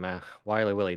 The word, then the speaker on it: XWilyWilly: Hello, I am XWilyWilly. The X is silent, and sometimes they are not there.